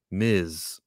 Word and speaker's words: Ms.: is not miss marvel m-i-s-s is how you spell miss ms period is how you say miz yeah i have to